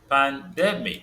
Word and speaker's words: pandemic: Pandemic. So the stress is on the that demic. De.